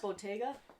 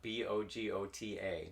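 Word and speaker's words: Bogotá: so there was that bottega no it's bogora yes so that's not spelled with the t um bogota b-o-g-o-t-a bogota bogota colombia i don't know where you come up with bottega the emphasis on a wrong syllable yes definitely so uh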